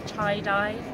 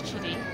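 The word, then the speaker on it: Chidi: it on paper so for the British man chitty can sometimes translate into chai die or chai day um but once I told them it was chidy then that was fine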